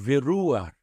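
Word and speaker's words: וְרוּחַ: E aqui nós temos uma exceção nessa palavra, porque o patar, que está debaixo da consoante het, é lido, é pronunciado antes do het. Então é escrito debaixo do het, mas é pronunciado antes, veruar.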